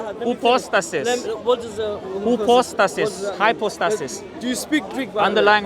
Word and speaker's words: hypostasis: That's the way it's pronounced. Hypostasis. I just want to be fair to the pronunciation, you know.